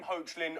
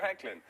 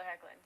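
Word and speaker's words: Hoechlin: we had this didn't we I called him hlin on Monday because hey when you look at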